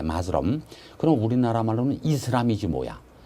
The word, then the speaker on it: Muslim: 읽을 때는 영어로 읽을 때는 마스럼이라고 읽을 때 마스럼.